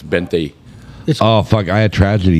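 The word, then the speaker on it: veinte: Pronounced with a B, but it's Bente.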